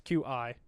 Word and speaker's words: Qi: If it's Qui or Key or whatever. It's Qi.